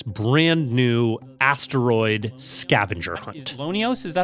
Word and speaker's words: LONEOS: Lonios, is that how you pronounce it?